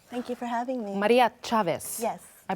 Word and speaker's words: Maria Chavez: Maria Chavez. Yes. I pronounced it well.